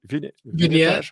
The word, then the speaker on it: vignettage: Vignettage? It's a French word, actually. Vignette, yes, vignette in French, vignettage. Vignette.